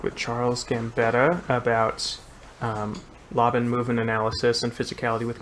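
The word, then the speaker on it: Laban: physicality with conductors and i found out that for three years i'd been pronouncing laven incorrectly so that was yeah cause yeah cause you you called it labon for a while right when i was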